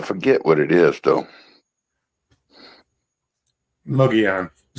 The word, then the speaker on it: Mogollon: Mogollon. Yeah. Yeah. But the two L's make a Y cuz of Spanish.